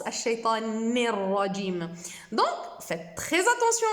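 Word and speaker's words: الشيطان الرجيم: Alors que c'est un noun avec une kasra, on le prononce ni, et pas ne.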